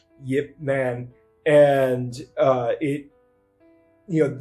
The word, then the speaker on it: Ip Man: a why a Lacroix of a y on the beginning of that I sound Yip Man and uh it you